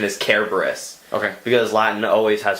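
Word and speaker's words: Cerberus: want to see Cerebus which one is which servers is the pronunciation that a lot of people use like the common English pronunciation the correct pronunciation is Kara Burris ok because lion always has hard seeds but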